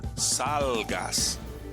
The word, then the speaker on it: salgas: And here, because it ends in S, we say salgas. And again, the second to the last syllable gets stressed.